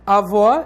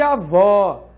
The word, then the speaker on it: avó: Então, por exemplo, avó é diferente de avô. Note que esse acento está indicando que a sílaba tônica é vô e está marcando o timbre aberto da vogal O. Então, é diferente de avó, avô. Percebe?